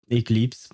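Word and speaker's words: éclipse: Eclipse is the exact same word in French, except we have a little accent on the E, the first one, in order to make it sound like eclipse and not, well, whatever else it would sound as.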